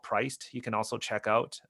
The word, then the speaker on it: PRYCD: Is it priced? Yeah, it's Priced. It's spelled PRYCD.